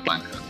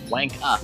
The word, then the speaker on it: wanker: Wank up. No, that's not how you say it. It's ER. wanker.